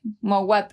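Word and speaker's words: Mouawad: ¿Cómo se pronuncia, Nick? Mowat.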